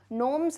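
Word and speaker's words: gnomes: वक्त में फैरीज परियां नोम्स अच्छा इनको मैं फिर से बता डन बहुत बार बता चुकी हूं फिर भी समझो भाई इसका प्रनंसीएशन नोम्स है जी यहां पे साइलेंट है ना जी साइलेंट है तो नॉर्म्स प्रणाम ये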